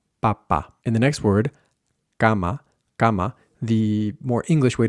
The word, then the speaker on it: cama: that S, cama, cama, and that'll help us find the k sound that we need without aspirating, without going k, k. It's also the same k sound that we have in the word act, act. So you can either take the k sound from scar or from act and apply that to cama, cama.